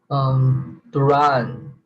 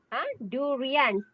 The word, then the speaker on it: durian: Duran. Durian. 3 syllables. Durian. Okay.